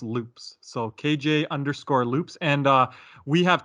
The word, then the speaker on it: Lups: It's spelled LUPS, but it's pronounced loops.